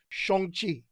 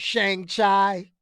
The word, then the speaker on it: Shang-Chi: shang chi is this for years i've been pronouncing this so so wrong notice i'm saying it correctly now shong chi that's how it is i mean as a